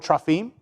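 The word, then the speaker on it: teraphim: In the Hebrew, it's actually the word trafim. Looks like terapam is how it looks like it's spelled in in English, but it's uh it's the word trime.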